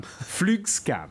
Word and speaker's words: Flugskam: Let me see if I pronounce this correctly, Johan. Flugskam.